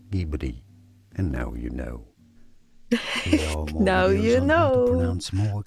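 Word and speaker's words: Ghibli: Yes, because this is not Italian. Yes, there is a Maserati car called Gibli. But no, the name of the studio is as Gibli from Japanese Gibbli.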